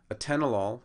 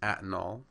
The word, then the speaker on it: atenolol: are they mispronounced so first a tenolol becomes atol metformin becomes metaformin metoprolol becomes meow prolol and simvastatin becomes sasan so I found these